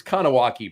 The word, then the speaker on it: Kahnawake: Now, look, by the way, it's Kahnawake Brewing, right? But I remembered how to spell it because it's like Awake. Yes, like Wrath of Khan. Awake.